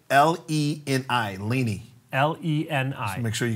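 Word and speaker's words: Leni: And her name is spelled L-E-N-I, Lenny.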